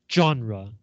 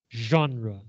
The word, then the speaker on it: genre: Other French words like this include genre, 类别, not genre, genre.